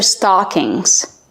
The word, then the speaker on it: stocking: And these are stockings. 1 stocking, 2 stockings. Kevin, how do we pronounce stocking? Stocking. Use the short ah sound like stop and hot.